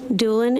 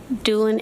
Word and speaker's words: Doolin: me your name please my name is Doolin and it's spelled k-a-t-h-r-y-n doulin is d-o-o-l-i-n what do you do I'm a